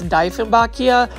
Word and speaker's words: Dieffenbachia: This one's another Dieffenbachia, and I think I'm saying it right now, it's Dieffenbachia. It's, you know, German based, so yes.